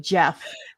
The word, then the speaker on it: Geoff: Who decided that Jeff with a J and Jeff Geoff were the same thing? Jeff and Goff. Right? But we're going to call it Jeff.